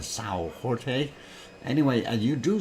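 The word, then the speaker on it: São Jorge: villages on Samuel George if you want to pronounce it in Portuguese it's a Sao Jorte anyway way and you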